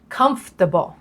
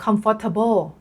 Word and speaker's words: Comfortable: ดู กัน เลย ค่ะ คำ แรก Comfortable นัก เรียน ส่วน ใหญ่ ให จะ ออก เสียง Comfortable นะ คะ คล้าย ๆ Comfort น้ำ ยา Comfort อ่ะ นะ แต่ จริง ๆ แล้ว เนี่ย จะ ต้อง ออก เสียง Comfortable Comfortable คำ ที่ 2 นะ คะ